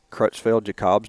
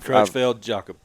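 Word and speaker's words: Creutzfeldt-Jakob: um tjd yeah and I'll try to say it crutch Feld Jacob's disease maybe crell jackob yeah I've heard it pronounced several different ways y but it is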